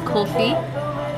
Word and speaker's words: kulfi: Is it kind of pronounced like coffee with the accent? Kulfi.